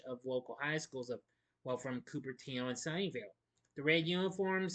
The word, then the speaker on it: Cupertino: Actually, this film was made in the summer of 1972 in Cupertino, or is it Cupertino? I'm not sure. I mean, no, Cupertino. That's how you say it.